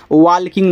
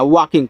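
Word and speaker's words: walking: क्योंकि यहां पे एल जो होता है वो आपका साइलेंट होता है। वाल्किंग नहीं पढ़ना। वाकिंग पढ़ना है।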